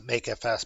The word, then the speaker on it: mkfs: make FS make filesystem I pronounced to make FS but it's mkfs make filesystem so I'm going to